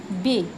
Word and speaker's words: बे: उर्दू में हम इसका उच्चारण करेंगे बे और हिंदी में इसका उच्चारण होगा ब।